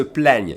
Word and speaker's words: plaignent: And listen to the third person plural, ils se plaignent. You hear an I accent grave now, okay?